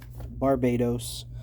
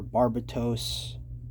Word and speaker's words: Barbatos: with a base and here is barbados or barbatos as it's pronounced in the english version